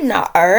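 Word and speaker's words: 哪儿: Did you just say 去哪儿啊? No. When you pronounce 哪儿, you just start with 哪 and quickly roll the tip of your tongue a bit.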